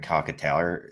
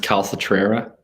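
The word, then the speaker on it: Calcaterra: Someone drafted Jalen Wademeyer, or was it Grant Cockataller? It doesn't matter. It was one of those two in the second round. It's pronounced Calcatrera.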